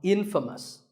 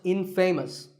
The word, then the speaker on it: infamous: you might just become infamous this word is the opposite of famous and it means famous for something bad but it's not pronounced in famous it's pronounced infamous alright I hope you